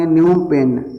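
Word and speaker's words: Phnom Penh: और कंबोडिया की राजधानी नोमपेन्ह यहां पर पीस साइलेंट रहता है न्यू पेज में इसके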